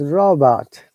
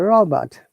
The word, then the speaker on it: robot: It is not Robert, it is robot. First R must be pronounced and second R must not be pronounced because there is a vowel sound.